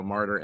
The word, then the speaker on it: Marter: So Marter, M-A-R-T-E-R, pronounced like the martyrs in the Bible, but not with the Y.